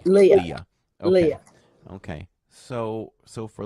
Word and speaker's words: Leah: I pronounce it right is it just Lee Leah Leah okay Le Leah Leah okay so so